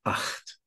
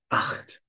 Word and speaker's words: acht: And rule number 5, the combination of the consonants C and H is pronounced like ch, at least after the vowels A, O, U, just like in the word acht.